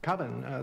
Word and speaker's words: Coven: Coven, that's the proper pronunciation.